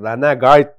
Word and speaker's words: Renegade: 7300 MB bsy Kingstone renegade renegate renegade diye okunuyor herhalde böyle bir ssdm çıktı